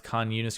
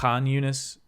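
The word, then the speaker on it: Khan Yunis: I know I guess I I technically don't pronounce k yunus correctly the it's aunus would be the correct but it's tough for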